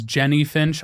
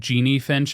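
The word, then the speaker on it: Jennie Finch: I know I mispronounced the name. It was Jenny Finch. I don't know why I said Jeannie Finch in the softball primer, but my apologies, Jenny.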